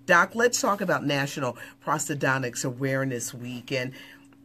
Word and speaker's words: Prosthodontics: This week is National Prosthodontics Week.